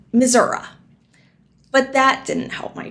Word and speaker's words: Missouri: arrived I discovered that it's not pronounced misery it's actually Missoura but that didn't help